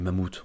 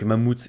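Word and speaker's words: Mammoth: c'est celle de mammou Mamou qu' faut prononc en anglais mais mamouth on s on s'en fout on prononce la française donc mamouth qui est très très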